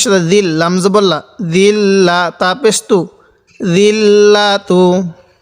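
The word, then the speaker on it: الذِّلَّةُ: জাল লাগবে আবার এই লামের সাথে জিল, লামজবল্লা, জিল্লা, তাপেস্তু, জিল্লাতু। জালটা একটু নরম করে পড়ব।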